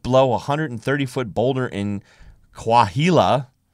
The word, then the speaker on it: Coahuila: But for one Mexican couple, a hut wedged below a 130-foot boulder in Coahuila, I probably pronounced that name wrong, I don't think so. Mexico, The H is silence.